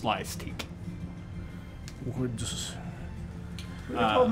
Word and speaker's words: Slyastique: Slyastique would be S-L-Y-A-S, and then teach. But it's pronounced Slyastique.